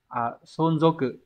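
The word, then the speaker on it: 存続: Số 1 này, từ này sẽ đọc là sonzoku.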